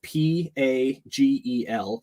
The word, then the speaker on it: Pagel: He says his last name wrong because it's Pagel, so it literally matches the word bagel, but with a P.